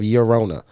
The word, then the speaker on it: Llorona: It's not the L is silent, so it's Tears of Llorona.